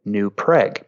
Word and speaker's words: New Prague: But for some reason, over the years, we came to pronounce it New Prague.